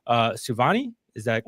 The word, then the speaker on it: Souvanny: And so uh we wanted to introduce you to Katie uh I think that it's pronounced uh Suani. Is that correct? Yes. Savani.